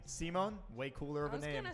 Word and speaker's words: Simon: what i was told in japanese you would be saying simon like simone and so i guess